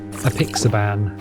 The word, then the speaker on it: apixaban: But yeah, so I'm already on apixaban. That's how you pronounce it, which is kind of like warfarin.